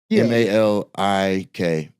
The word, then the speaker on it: Malik: M A L I K. So Malik or Malik, either way the pronunciation, it still means king.